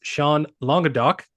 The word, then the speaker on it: Sean Languedoc: guest with myself today um his name is sea longa do um pronounced that correctly I believe you got it